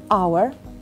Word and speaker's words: hour: But when we want to pronounce the word our, h, the letter h, is silent.